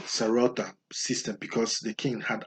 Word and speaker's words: Sarauta: Mind the pronunciation Sarauta system because the king had absolute power.